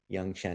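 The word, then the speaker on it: Yung Chen: Young as in not old. And she used to go by Roxanne. I think someone just gave her that name because they couldn't say her Chinese name. Young Chen. It's spelled Y-U-N-G. Yeah, Chen, C-H-E-N, dash C-H-E-N.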